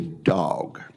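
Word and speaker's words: DAWG: I welcome Major General Mark's testimony as the director of the Defense Autonomous Warfare Group or the dog, which is the correct pronunciation of the word in Mississippi, dog.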